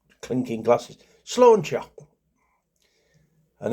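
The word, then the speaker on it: sláinte: Slauncher or a drinking things like clinking glasses. Slancher. And it's um it's spelled s l a i n t e but pronounced slawn s l a w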